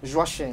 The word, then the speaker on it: Joachim: Joachim, voilà, merci de le dire. Joachim qui s'écrit J-O-A-C-H-I-M.